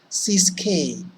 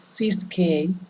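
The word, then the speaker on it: Ciskei: The first two, I've brought them because they have the same pronunciation. Look at this. Cis-K, trans-K. So whenever you feel like perhaps you're getting confused or forgetting, remember the pronunciation. Cis-K, trans-K.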